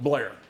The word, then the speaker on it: Bel Air: This is Bel Air, or as they pronounce it, Blair.